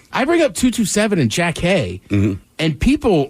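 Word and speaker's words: Jackée: that I was like I know it looks like Jackie but like that was how you pronounce that's how she says her name yeah so good times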